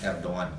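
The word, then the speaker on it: Erdoğan: Ejaan kita ni G Erdogan. Sebutan Turkinya Erdogan. G itu tak bunyi.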